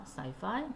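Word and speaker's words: sci-fi: 계속 이런 얘기를 하고 그다음에 이거는 sci이파이라고 읽어요. 사이파이. 음.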